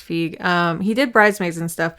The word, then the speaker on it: Feig: Paul Feig, I think that's how you say it. I don't think it's Fig. I think it's Feig.